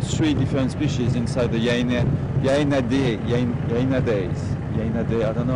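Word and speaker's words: Hyaenidae: In French you call it Hyena day. This is the name of the family. In English it might be Hyena D. I don't know how you pronounce it correctly. I'm kind of studying by myself. Hyena day, that's right.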